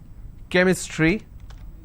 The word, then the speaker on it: chemistry: But when I have the word chemistry, CH becomes k sound.